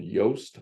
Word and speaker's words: Yoast: If you do have a WordPress website, there's a super plugin called Yoast, Y-O-A-S-T. It rhymes with toast.